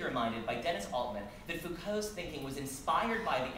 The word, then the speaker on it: Foucault: you know, I think Foucault, right? we were in England last year, and they all say it like he's French, like Foucault. I'm from Maryland, so I'm going to say Foucault.